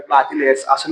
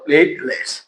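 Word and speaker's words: platelet: আমরা বলি কি বল প্লেটলেট প্লেটলেট প্লেটলেট আমরা উচ্চারণ প্লালে উচ্চারণটা হবে কি বল প্লেটলেট এবার দেখ আরো দুইটা নাম হয়ে আরো একটা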